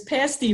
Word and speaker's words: pasty: the thing it um the saying up there is pasty rhymes with nasty not pasty rhymes with tasty so um yeah yeah